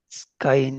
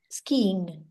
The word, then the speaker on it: skiing: If I if I had been skying ever have been ever skying. skiing the pronunciation.